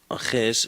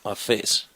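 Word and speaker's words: ἄφες: It's not aches, it is afes. Kai afes.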